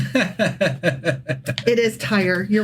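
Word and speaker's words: Tyre: But here that you're referring to is actually pronounced tire. Oh, I always get that wrong. Yeah, tire.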